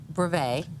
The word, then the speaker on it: brevet: This is the brevet. Right. I always say it wrong. I always stick a T on the end of it.